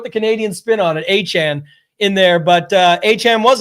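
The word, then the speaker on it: Achane: The old Canadian the A-Chan. They want you to make sure you're not saying A-Chain anymore.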